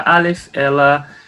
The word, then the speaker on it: Aleph: A letra Aleph, hoje ela sempre precisa estar acompanhada por uma vogal, senão ela não tem pronúncia, ela não tem um som próprio.